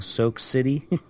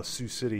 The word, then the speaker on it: Sioux City: Iowa salix Iowa uh-huh I pronounce this wrong soak city Oh Sioux City yeah that's that's far